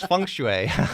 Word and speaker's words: feng shui: you know I can't pronounce it I can spell it but it's feng shui right yes well that that involves it goes